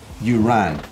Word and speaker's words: Urán: It's pronounced Urán, as in you ran me over.